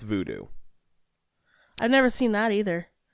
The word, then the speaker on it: Vodou: How they spell it, or how it was spelled here, is VODOU. That's where I got the U from. But I believe it's still pronounced voodoo.